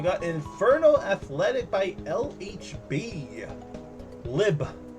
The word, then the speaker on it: LHB: Lib. That's how you pronounce it.